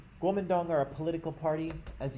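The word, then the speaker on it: Guomindang: i think it's pronounced gomendong i'm not my mandarin is very rusty and that i don't speak any mandarin at all but i think it's pronounced gomendong guomendong are a political party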